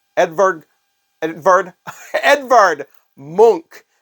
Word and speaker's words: Munch: this this painting here his name is Edvard monk edberg Edvard Edvard monk not Munch The only reason I bring that